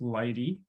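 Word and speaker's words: lighttpd: me think the web server it will be Lighty uh it's spelled by httpd but it is pronounced Lighty in general um and kyber and lithium will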